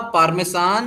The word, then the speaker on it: Parmesan: मोसरेला, मोसरेला, पार्मेसान, very good. और चलो चलो चलो, दिमाग लगाओ जल्दी से। सोचो सोचो। मोसरेला पार्मेसान के आगे भी दुनिया है, क्या है उसमें?